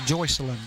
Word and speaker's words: Joycelyn: Her name is pronounced Joycelyn, and he said she liked it that way.